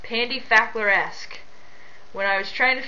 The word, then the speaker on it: PandyFackleresque: thing and haven't haven't asked my username is pronounced Pandy faer esque when I was trying to figure out a